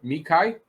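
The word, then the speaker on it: Xhekaj: that deal arbor mikhail i know that's not doesn't look like that's how you pronounce it but it's arbor mechai to a three-year two-way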